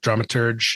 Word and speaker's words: dramaturg: difference is and and is that the right way to pronounce dramaturge um dramaturg yeah the a lot